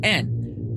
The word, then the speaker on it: Johnston: You can't hear it, but Johnson is actually spelled with a T, so Johnston. But for some reason, the Scottish don't pronounce the T.